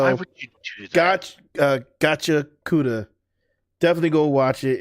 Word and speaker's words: Gachiakuta: But yeah, bro, this is Gachiakuta is like. I'm sorry, I said it wrong. Gachiakuta.